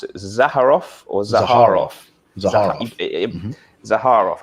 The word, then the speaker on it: Zaharoff: Zaharov. I think I got that. It's a hard har. It's a hard har. Zaharov. Okay, Zaharov fragrances, which is, of course, headed up by the wonderful George Zaharov, one of my previous guests.